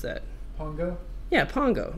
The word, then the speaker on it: Pongo: Pongo? Yeah, Pongo. But he thinks it's like Ponjo because his teacher's name is Ponja.